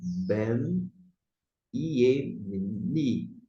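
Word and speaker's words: בֶּן־יְמִינִי: Aqui temos o som de Y, novamente. Você não vai colocar I, Y e falar I. É o mesmo procedimento. E você vai se referir a benjamita, pronunciando desta forma. Ben, Iemini.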